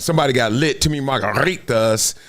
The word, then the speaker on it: margaritas: To me, margaritas. Got to roll your R.